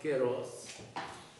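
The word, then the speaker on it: καιρός: هلا في عندنا كلمة باليوناني هون، كايروس بالفضل، بس طبعا تلفظ كيروس.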